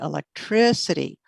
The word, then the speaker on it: electricity: and then answer is electricity electricity electricity can you hear that stronger stress on the third syllable electricity and the very